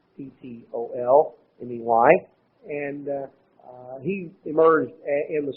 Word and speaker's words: Ptolemy: Egypt, were the Ptolemies, that's spelled with a P, Ptolemy, and he emerged in the south, and these were the two primary ones.